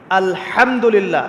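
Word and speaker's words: الحمد لله: আলহামদুলিল্লাহ।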